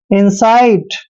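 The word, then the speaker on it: incite: सी आई टीई देखिए आई का उच्चारण ई करते हैं एन को आधा न लिखते हैं और सी आई को साई लिखते हैं साई और टी का वचन ट करते हैं इनसाइट इनसाइट होता है दोस्तों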